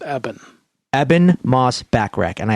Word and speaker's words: Eben: I believe it's pronounced Eben.